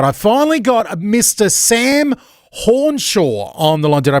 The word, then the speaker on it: Hornshaw: Sam Hornshaw on the line. Did I pronounce that right, Sam?